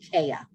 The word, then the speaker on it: Kheya: Anna, they put some stuff in the chat that you might understand, and also my name is pronounced Kheya. There's no L in there.